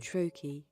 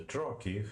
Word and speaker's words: trochee: Both the yamb and the trochee have two syllables, and yamb being a rising rhythm and the trochee a turkey, tak. Like Turkey, but Turkey, yeah?